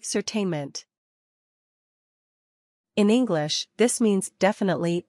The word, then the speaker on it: certainement: Say certainement. In English, this means definitely or surely. You should pronounce this French term as certainement. N is silent.